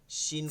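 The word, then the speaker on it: شين: থাকে আপনার উচ্চারণের মধ্যে শিন করতে হবে শিন বলেন ওইটা এখানে দেখেন আপনি উচ্চারণের সময় দেখেন জিহ্বা জিহ্বাটা আইসা নিচের দাঁতে লাগতেছে এজন্য একটু সিনের ভাব থাকে দাঁতে লাগাবোই না এতটুক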